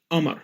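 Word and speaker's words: قمر: arabic or shami arabic we do not pronounce the letters uh the and for example the word hammer means moon we pronounce it as amar we're talking about a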